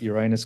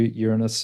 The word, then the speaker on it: Uranus: But I'm going to call it Uranus because that's the way we pronounce it. But if it helps you, Uranus will also work for us.